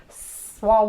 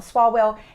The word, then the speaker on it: Swalwell: these crazies like shifts swallow well I always say his name wrong swalwell and Omar I hope